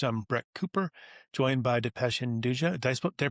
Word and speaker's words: Dipesh Hinduja: I'm Brett Cooper joined by Dependa. Did I do I pronounce it right? Dependa.